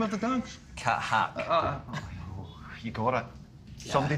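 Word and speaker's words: Kathak: Cat Hack.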